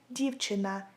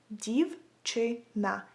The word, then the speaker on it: дівчина: So if you want to say a girl in Ukrainian, you would say it like дівчина, дівчина, дівчина.